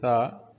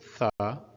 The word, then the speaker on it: ثاء: So Tha is pronounced like TH in English, similar to think. So Tha, not the, Tha.